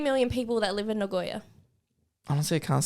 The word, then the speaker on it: Nagoya: Nagoya? Yes. Nagoya? Yes. Ah, Nagoya. Is that even a common one? Yes, it is. There's 2.3 million people that live in Nagoya.